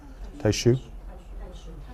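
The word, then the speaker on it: Taixu: a monk named Tai I'm not sure how to pronounce it taiu or taisu can someone help me taiu okay um so taiu was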